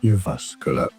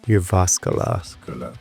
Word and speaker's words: Jyväskylä: The pronunciation is as Jyväskylä. Jyväskylä. The Jyväskylä-based hardcore band, thank you.